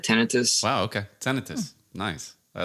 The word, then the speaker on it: tinnitus: I always thought it was tinnitus, but my ENT doctor corrected me and said tinnitus.